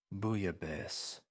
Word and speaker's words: bouillabaisse: "Bouillabaisse."